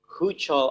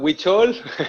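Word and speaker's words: Huichol: silau falades uh an american mexican artist promoting hoocho art i hope i don't make a mistake in pronouncing that yeah ucho is it correct silo it's a witchol oh witcho sorry witch it's okay it's okay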